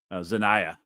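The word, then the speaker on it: Xania: Zanaya. Okay, so that's how you say it, like Shania.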